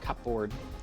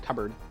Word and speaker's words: cupboard: Yeah, cupboard is not pronounced like cupboard. It's pronounced cupboard.